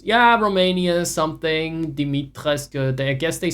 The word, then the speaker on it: Dimitrescu: Sorry, Dimitrescu. That's how they said she should pronounce it. The house Dimitrescu. If anyone remembers that, it's not her fault. They told her it's, yeah, Romania something, Dimitrescu.